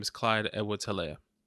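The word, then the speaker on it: Helaire: name is clyde edward taleah right right um c-e-h yeah c-e-h you know the h is silent by the way yeah some people have i've heard people saying heller hello and yeah there's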